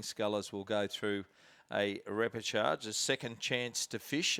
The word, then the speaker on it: repechage: And why the word repechage doesn't have an R in it is beyond me. Yeah, it's chage, C-H-A-G-E, is it not? Yes, but I think the way we pronounce it somehow includes an extra R or 2 generally. We could, the proper Australian way would be repechage, wouldn't it? But, a nasally repechage.